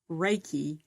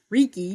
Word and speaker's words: Reiki: but here's the thing is that you have just made me write out the way to pronounce Reiki instead of Reiki.